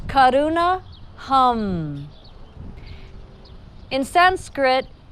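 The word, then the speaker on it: करुणा: is Kaduna hum so if you don't roll your R's it's Karuna but it's Kaduna hum in sanskrit how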